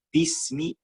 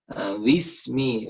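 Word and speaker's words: بِسْمِ: Nah, kemudian seperti huruf W, pengucapan Inggris. Itu ya. Contoh gimana? Wismi, wismi. Ketika ada bagian daripada bibir yang kurang rapat. Harus rapat. Bismillahi, bukan wismiwi. Nah, itu.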